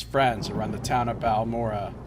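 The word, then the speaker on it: Balmora: around the town of Balmorra or Ballmer uh as they pronounce it maybe they can point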